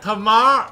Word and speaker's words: Tamar: Even in a cave of corpses, I can bro, Tamar rhymes with Garika.